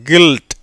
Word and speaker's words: guilt: எப்படி வருது, கில்ட்.